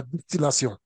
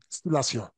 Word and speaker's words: distillation: est-ce qu'on utilise la destillation ah oui c'est vrai c'est vrai il y a un problème de prononciation euh peut-être que vous tous vous connaissez la destillation mais on dit bienation distillation don quand est-ce qu'on utilise